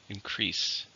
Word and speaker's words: increase: How many syllables are in increase? 2, stress in the second, increase.